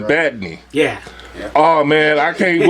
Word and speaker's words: Badney: I'm Badney. You dig it? That's how you pronounce it, Badney.